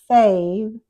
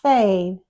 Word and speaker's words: fave: So we will pronounce it fave, but sometimes it's written fab. It looks like fab, but it's pronounced fave.